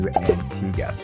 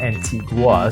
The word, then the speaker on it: Antigua: And yes, you might have noticed I'm pronouncing it Antigga, not Antigua. So, if you are thinking to go there and you've been pronouncing it Antigua, now is the time to go ahead and pronounce it correctly before you get there.